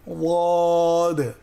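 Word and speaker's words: ض: তাহলে আবারও আমরা দেখছি জিহ্বার গোড়ার কিনারা বাম দিক অথবা ডান দিক অথবা উভয় দিক লাগিয়ে ওয়াদ হরফটি উচ্চারণ করতে হয়।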